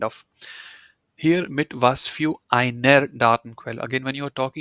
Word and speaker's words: einer: Here mit was für einer Datenquelle. Again, when you're talking, you don't have to pronounce the R part. You can just say mit was für einer Datenquelle.